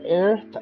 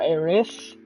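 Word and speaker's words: Aerith: the sector seven slums with earth or eris depending on how you want to pronounce it sector five lumps excuse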